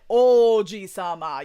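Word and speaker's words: 王子様: want to make sure to elongate the o because the word for uh like prince and grandpa is real similar uh in pronunciation. like the kanji are completely different but the way it's pronounced is very similar.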